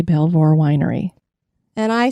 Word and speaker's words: Belvoir: the property that is now home to the Belvoir... Now it's going to get in my head. Yeah, we were discussing, how do you say Belvoir Winery?